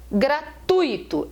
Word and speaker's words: gratuito: pessoal fala for tuíto gratuito é a correta e as pessoas falam gratuito eu ouço muitas pessoas a é gratuito gratuito só que a palavra não tem um e tônico formando hiato não tem acento né a palavra é